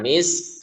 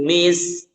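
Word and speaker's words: مسك: Jangan misk. Nah, jadi kafnya jadi qalqalah dong. Khitamuhu misk.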